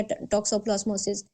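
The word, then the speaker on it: toxoplasmosis: कजेटल इनफेक्शंस में आ जाता है डेक्सोप्लास्मोसिस या टॉक्सोप्लास्मोसिस। इस तरह से इसको प्रोनाउंस करते हैं।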